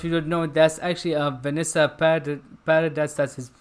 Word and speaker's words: Vanessa Paradis: Like I said, this actress for if you don't know, that's actually Vanessa Paradis. That's how you pronounce her name.